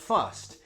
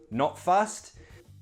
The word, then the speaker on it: fussed: You could say, I'm not fussed. Usually we contract it to not fussed. Pronunciation, that sounds like a t.